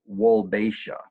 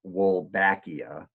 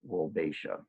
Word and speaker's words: Wolbachia: If I say the name, the subtitles are going to get it wrong, but it's pronounced Wolbachia. Wolbachia. It looks like it's Wolbachia, but it's actually pronounced Wolbachia.